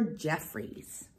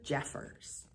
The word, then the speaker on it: Jeffers: you here we are by Oliver Jeffries oh I'm sorry I pronounced that wrong and Jeffers by Oliver Jeffers I'm gonna move a